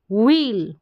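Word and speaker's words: wheel: जो आप समझे तो ये जो एच है ना ये साइलेंट है, ऐसे भी समझ ली, व्हील, व्हील, क्या है? व्हील। तो कहीं ना कहीं एच का साउंड आ रहा है लेकिन साइलेंट रूप से आ रहा है।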